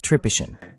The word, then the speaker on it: Tripician: Olvidé preguntarte si tu apellido se pronuncia Tripician. ¿Es correcto? Es tripishian. Está bien, casi.